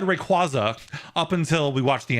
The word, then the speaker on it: Rayquaza: that's a problem because Ray and Quay are now both stressed. That's why we all say that's why we all said Rayquaza up until we watch the anime. Um, Rayquaza is not natural.